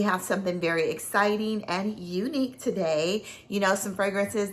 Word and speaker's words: Unique'e: I know it's not Unique You, but I think it's pronounced Unique fragrances or Unique luxury fragrances or parfums.